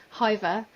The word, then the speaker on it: Hyvä: always want to say hi because it's pronounced h y v a with a little hat on um but the official pronunciation is Hoover so you might catch